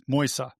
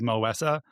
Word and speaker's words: Moisa: I literally walked up to him outside training and said, have I been saying your name wrong for 2 years? Is it Moesa? And he goes, it's Moisa.